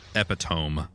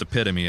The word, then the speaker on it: epitome: were giving him a ride and I said epitome and that's not how you pronounce that word it's pronounced epitome and he was Swift to inform me of